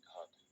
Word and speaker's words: घात: Spelling पे मत जाइएगा, हिंदी में कहते हैं घात, धात नहीं घात है, घातांक, घातांक, यम की भी नहीं है, घातांक एवं कर्ण।